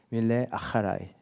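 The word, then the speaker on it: מִלֵּא אַחֲרַי: 아, 히브리어를 제가 공부를 하진 않았지만 저는 그을 공부했는데 히브리어 제가 발음을 찾아보니까 이렇게 발음한다고 합니다. 밀레 아라이 네. 아하 H에 바람을 넣어서 밀레 아라이 뜻은 빈틈 없이 따라가다.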